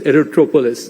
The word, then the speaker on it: Aerotropolis: same thing in the Bogaparam aero aerop Aerotropolis aerotropolis that's how it's getting rightly pronounced and what can we do there is